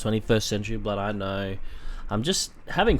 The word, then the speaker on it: XXI Century Blood: I know you guys say it's pronounced 21st Century Blood, I know.